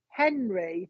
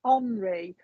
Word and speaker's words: Henri: He's given me the name Henry, but it's Henri, but it's spelled Henri.